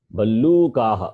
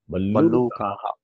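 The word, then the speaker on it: भल्लूकः: Ballukaha, okay, that O is long. Ballukaha.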